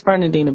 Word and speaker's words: Fernandina: It's Fernandina Beach, Florida.